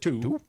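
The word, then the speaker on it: Tou: Then there was, I'm going to butcher these pronunciations. T-O-U is the first name. Is it Tu?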